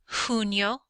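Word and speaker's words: junio: cabayo cabayo is horse the letter J when you see it sounds like an H sounds like an H so here we have huno Julio and hes which means June July and Thursday the letter H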